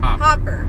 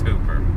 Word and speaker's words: Hooper: Hopper. 2 O's. Oh, that's Hooper.